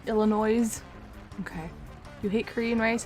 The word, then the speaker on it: Illinois: ill nois isn't special you don't pronounce the S Illinois okay you hate Korean